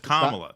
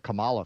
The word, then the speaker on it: Kamala: remember moo says it's hate to say Kam Kamala pretty soon it's going to be against the YouTube rules to say Kamala say it's not no it's Kamala that well that yeah well that's that's because